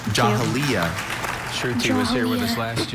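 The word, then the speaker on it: Jahiliya: and rich vocabulary Jahalia and is a noun.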